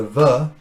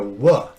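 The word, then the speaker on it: ו: say traditions traditions right some jews pronounce the letter as a va or like a v in english and others uh pronounce it like a wha like a w and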